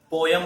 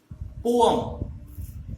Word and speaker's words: poem: तो इसका correct pronunciation होता है, ठीक है, पोम, पोम, ठीक है ना। तो आप उसे क्या बोलेंगे, पोम, पोम, ठीक है। पोम हम इसे बोलने वाले हैं बजाय पोयम बोलने के।